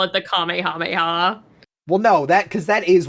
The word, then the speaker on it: Kamehameha: I don't know why the fuck you call them Nemeks, but The same reason they call it the Kamehameha.